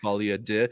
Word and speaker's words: folie à deux: pronounce it as like Folie à Deux. Maybe it's just a little bit like it's not do like doo doo. It's like de.